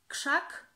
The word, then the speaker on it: krzak: And as you can see, the RZ we pronounce as sh, sh, krzesło, krzesło. Sło. And the same rule applies to krzak, krzyk, krzyk, krzywda, krzywda, and many more.